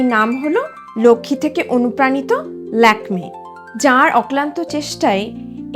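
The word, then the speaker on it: Lakmé: সেই চরিত্রের নাম ছিল লক্ষমী। ফরাসি উচ্চারণে ল্যাকমে। ভারতীয় সংস্কৃতিতে লক্ষ্মী নামের সঙ্গে জড়িয়ে আছে অর্থ সমৃদ্ধি ও সৌন্দর্যের ধারণা।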